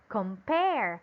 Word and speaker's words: compare: the syllable pear okay it should be in the syllable pear why because this one is a verb because this one is a verb again how should we pronounce it compare correct compare let's have number three